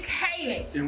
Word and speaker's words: Keelan: I've been saying this boy name wrong all the time. It's Kaylin. But his name is spelled Keelan.